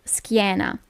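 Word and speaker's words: schiena: you have for example skana so you have s c h i e in this case you don't pronounce it sh but SK okay normally when you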